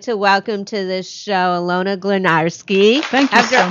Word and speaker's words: Alayna: Next to me, I'd like to welcome to the show, Alayna. Thank you After so all much. This time, I think I did I pronounce it right?